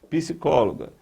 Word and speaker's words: psicóloga: É aquela palavra cuja sílaba mais forte é a antepenúltima. Então, ó, última, penúltima, antepenúltima. Depois, psicóloga, psicóloga, psicóloga.